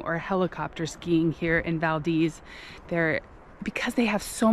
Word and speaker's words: Valdez: mispronounce the name of Valdez they say Valdez but I was just talking to a local she said the best way to remember it is Valdez like the breeze because you get a